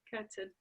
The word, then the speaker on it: Kirtan: Kirtan.